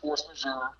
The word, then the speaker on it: force majeure: It's pronounced force majeure, and I think obviously these operators took oil and gas leases.